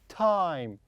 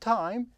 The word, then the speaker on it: Tim: It is Tim. Tim. The I here pronounced as E. Why? Because I don't have E here. There is no E like this. This we have E, so I pronounce I as I. But here I don't have E, so I pronounce as E.